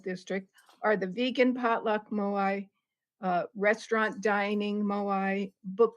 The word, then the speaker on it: moai: and some with a zoom option a moi moai is a Japanese word for an activity shared